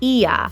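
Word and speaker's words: Oia: Although there is quite a few, but the famous one is actually in a town that's spelled O I A and it's pronounced Iya.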